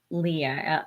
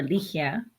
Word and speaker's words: Ligia: you do it that way so my name is spelled Leah or Leia Li i g a I grew up understanding